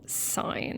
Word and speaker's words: sine: So, and on your calculator, its abbreviation is SIN, still sine. That's how we pronounce it.